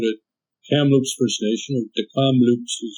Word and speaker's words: Kamloops: and Council out at Kamloops first nation of decom Loops as it's pronounced and I was talking about what it